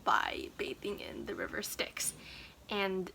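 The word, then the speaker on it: Styx: bathing in the river sticks and stixx is spelled s-t-y-x by the way not like sticks as in twig sticks but that's how apparently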